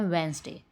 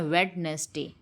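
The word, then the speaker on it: Wednesday: बुध को इंग्लिश में कहते हैं वेंसडे, बट हम लोग इसे बोलते हैं वेडनेसडे। क्यों? क्योंकि इसमें वेड भी है, नेस भी है और डे भी है, तो इसको बना दो वेडनेसडे, बट इसकी करेक्ट प्रोनाउंसिएशन है वेंसडे, वेंसडे।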